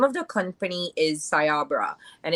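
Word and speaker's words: Cyabra: you guys the name of the company is sayabra and it's um pronounced it's spelled c-y-a-b-r-a sayabra and this company this is an Israeli type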